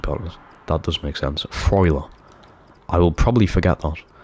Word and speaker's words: Freuler: Pronounce it Freuler. Ooh, Freuler. That makes sense, to be fair, actually, partners. That does make sense. Freuler.